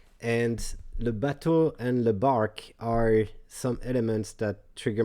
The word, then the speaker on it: barque: it in french it's in bach which sounds like bark like a dog barking a bark so if you talk about the the parkway no no more backway bark is a bark brqe is pronounced like a bark the definition you would